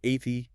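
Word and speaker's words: Athy: You have to hear Athie as a thigh. Because there is a thigh in it.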